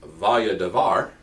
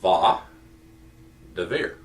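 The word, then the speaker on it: וַיְדַבֵּר: All right, so it's not pronounced as vaya davar, which, by the way, is the way I pronounced it when I first started taking Hebrew and reading this text, until I was corrected by my professor. It is va davir.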